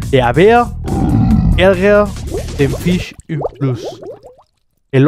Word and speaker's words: ärgert: Es este fenómeno de la gramática, de la escritura, llamado A umlaut o A con diéresis, que suena como la E en español. De haber, ärger den Fisch im Fluss.